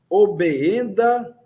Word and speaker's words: obeenda: Tio estes obeenda legio. Tio estes obeenda legio. São dois es. Nós pronunciamos os dois es.